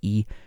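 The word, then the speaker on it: 一: clear and obviously the the tone changes in this the tone of the e changes to a second tone in this case even though it's written with the first tone you Korea means a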